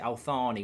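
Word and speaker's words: Al Thani: Sorry, apparently you pronounce it Althani with a th.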